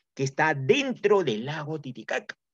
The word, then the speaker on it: Titicaca: isla del sur de los españoles entendieron mal que todo el lago se llamaba tití jaja y como no podían pronunciar bien la jota como fonema del quechua cambiaron la jota por la cnte y lo llamaron años más tarde titicaca y con ese